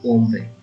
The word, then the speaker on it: hombre: So man is hombre, H is silent, hombre.